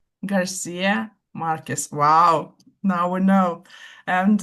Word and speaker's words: García Márquez: So um Gabrielle Garcia Marquez um Francisco did I pronounce the name correctly? Francisco. Okay. Garcia Marquez.